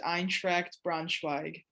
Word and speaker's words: Eintracht Braunschweig: the city braunschweig and the club's name is eintracht braunschweig wow i will not try to say that